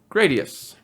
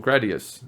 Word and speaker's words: Gradius: And then there's the Vic Viper, and this is from a game called Gradius, or Gradius, if you prefer that pronunciation.